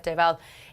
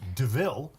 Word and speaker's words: Deauville: I think Queen of Deauville is the more likely winner, but Queen of Uplands just to take you and Barry on for a bit of fun.